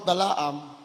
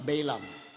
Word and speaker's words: Balaam: Sabi ng mga kano, Balaam. Balaam ang pronunciation ng mga kano eh. Pero sa atin, Balaam. Eh, hindi naman tayo kano eh. Pilipino tayo. Kaya Balaam tayo.